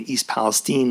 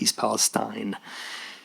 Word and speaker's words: East Palestine: and New York, knew how to pronounce the name of the place he was in, East Palestine, not East Palestine.